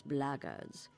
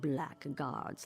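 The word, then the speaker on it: blackguards: you're another one of those blackards and that's the way to pronounce It not black guards like that thug insisted it was.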